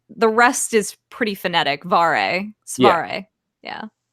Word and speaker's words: Cvareh: Yeah, it's usually the CV that once I kind of get across it's the soft C, sound. The rest is pretty phonetic. Svare.